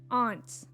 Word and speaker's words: aunt: warm it's it's bizarre you say Aunt hm which one is that you you say it like the bug you say ants ants